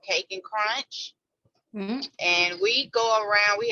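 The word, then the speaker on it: Kake N Krunch: Oh my gosh, that is Cake and Crunch, you said? K, it's spelled with a K, K-A-K-E, and then the letter N, and then Crunch is spelled with the K also.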